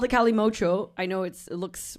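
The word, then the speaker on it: Kalimotxo: I know it looks weird, the spelling, but it's because it's two men's names, that the people that created it, they smashed their names together, and that's why it looks like that. But it's pronounced calimocho.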